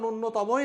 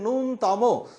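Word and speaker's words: ন্যূনতম: আসলে উচ্চারণটা নূন্যতমই না। আসলে উচ্চারণটা হচ্ছে নুনতম।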